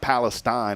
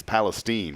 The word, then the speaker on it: Palestine: either Palestine is that how you it's not Palestine it's Palestine right yeah it's two different places you better